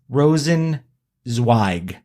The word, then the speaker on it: Rosenzweig: And Rosenzweig, like Rosen, SYG. So it is Rosenzweig.